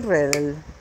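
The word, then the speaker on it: Redl: Pues si ustedes lo quieren pronunciar bien, le agregan la E al pronunciarlo, no al escribirlo, ¿no? El coronel Redel.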